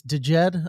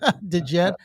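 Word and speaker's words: DJED: I don't even know how I would pronounce this. Dejed, I guess it is. Dejed.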